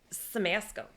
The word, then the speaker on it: Siemasko: Samasco. Just like it's spelled.